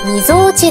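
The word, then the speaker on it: 鳩尾: 正解はみぞおちです。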